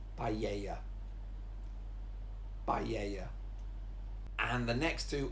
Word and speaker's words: paella: But it's actually, the double L is a y sound, so it's paella.